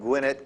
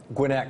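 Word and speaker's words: Gwinnett: of a police officer in Suburban Gwinett County I hope I'm pronouncing that correctly uh sorry Gwynette County I used to live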